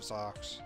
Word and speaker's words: Zeux: You entered the labyrinth of Zeux. So I'm gonna say Zeux because I always pronounce this MegaZeux. I bet it's Zeux, like Zeus.